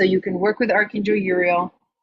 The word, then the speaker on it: Uriel: can work with Archangel Uriel spelled like that like RL but with a u um and uh